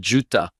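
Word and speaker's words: Juttah: au chapitre 15 figure J U T a h Juta Josué 155 dont le nom se prononce en hébreu exactement comme nous prononçons Uta et il y avait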